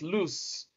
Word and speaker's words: loose: pronounced with z while the other one is pronounced with s is loose then the other one